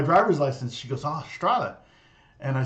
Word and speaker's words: Strahle: We don't learn surname rhymed with Ace Frehley. Oh, Frehley. No, Strahle. Ace Frehley. Strahle, actually. Strahle. Oh, Lee. Yeah, Ley. Yeah, and in German it's Strahle.